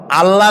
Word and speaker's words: আল্লাহ: বলেন তো আল্লাহ নয়।